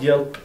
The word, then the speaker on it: Yelp: Do you know what Yelp sounds like in Swedish? It sounds like help. And we say that all I mean when I try to explain it to people, I say it rhymes with help.